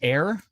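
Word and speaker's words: Ayr: think you're under severe thunderstorm warning oh it's pronounced air oh air it's too bad they didn't throw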